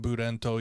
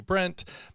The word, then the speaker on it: Brent: um japaneseified to uh to become buddento even though my you know the proper pronunciation would be Brent Most Japanese people would